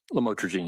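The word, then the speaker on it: lamotrigine: about the u the lam otherwise known as lamatroine. Did I pronounce that right? Lamotrogene.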